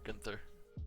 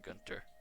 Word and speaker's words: Gunther: But yeah, it is Gunter or Gunther. It kind of depends on how you pronounce it. But I just say Gunter.